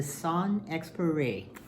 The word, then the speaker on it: Saint-Exupéry: I looked up the phonetic spelling, phonetic pronunciation. Anton de Saint-Exupéry.